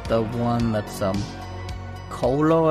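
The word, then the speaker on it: kolo: the one that's um Colo I believe it's how you say it it's a k-o-l-o it's where they are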